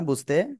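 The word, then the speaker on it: ب: সবাই বারবার বলতে হবে, দুই ঠোঁটের ভিজা অংশ থেকে বা অক্ষরটি উচ্চারণ হবে। ওকে, সবাই আমার দিকে তাকাতে হবে কিন্তু। দেখেন আপনারা পারতেছেন কিনা বুঝতে।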